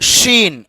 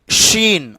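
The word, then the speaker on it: شين: பாருங்க இதை சொல்லும் பொழுது ஷீன் ஷீன் நல்லா காத்து வரணும் ஷ் இந்த உச்சரிப்பு வரணும் சரிங்களா ஷீன் சாது சாது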